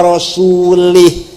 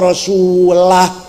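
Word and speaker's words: وَرَسُولُهُ: Wa annallaha bari'um minal musyrikin wa rasulih. Allah tidak melindungi orang musyrik dan tidak melindungi Rasulullah. Salah. Bacanya harus wa annallaha bari'um minal musyrikin wa rasulah.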